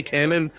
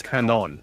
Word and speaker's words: Canon: I say Cannon, but it's Canon.